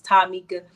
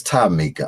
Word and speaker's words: Timeekah: me growing up everybody call me Mika because my name is Tamika but um what I've been hearing since 2003. now damn it wait a minute now it's it's time Mika I'm saying it wrong oh my God yeah